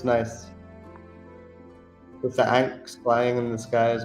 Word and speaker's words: ankh: With the anks flying in the sky as well. I believe they're anks anyway. Yeah, they are anks. So if that's how you pronounce that word. ANKH. I think it's pronounced ank.